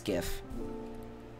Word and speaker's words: GIF: how do you pronounce gif listen you listen to me it's gif it is GIF because it is a graphic graphic graphic that's what the G stands for graphic it's not in traffic it's graphic goodness gracious